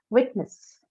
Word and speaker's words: witness: Witness. Witness. Wit. First part, right? Again, ness is an example of a suffix which is neutral. Does not bring about any change in the stress on the base word, the root word.